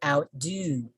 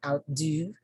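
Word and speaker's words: outdo: pronounce this word so you will notice that i put much stress on the second component okay so once again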